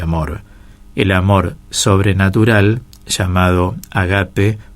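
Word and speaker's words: ἀγάπη: que dios es ágape en griego se dice ágape se acentúa en la segunda sílaba y significa que dios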